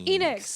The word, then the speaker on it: Enix: It's Enix. Like Phoenix. Yes. Square Enix. Squeenix. It's probably- Square It used to be Enix. Squaresoft. Now Enix. it's Square Square Enix.